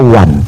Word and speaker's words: one: Ya jadi tadi dia mengatakan kata ONE dibaca wan.